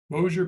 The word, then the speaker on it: Bossier: Wake Technical Community College, Raleigh, North Carolina; Milwaukee School of Engineering, Milwaukee, Wisconsin; and Bossier Parish Community College in Bossier City, Louisiana. Hope I pronounced that right. Is that right? Yeah, Bossier Parish.